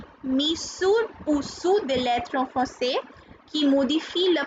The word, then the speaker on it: français: So cedille produces a sound s. So this is garçon and français.